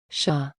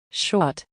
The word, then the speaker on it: chat: played a recording of the word shah said the recording the t is silent shot repeated my friend no it's shah i corrected oh okay he replied